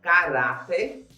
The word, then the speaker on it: caráter: Quando eu falo a palavra caráter, a minha sílaba forte, que eu pronuncio com maior intensidade, é o Rá. caráter.